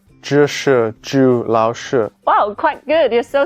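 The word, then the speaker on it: 老师: together to pronounce them the first one ah that's similar to shu in the word shy yes from now on you can call me lao shi lao shi means teacher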